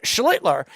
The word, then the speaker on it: Schlittler: Now, the kid that they have on the mound right now, how do you pronounce his name? Schlittler.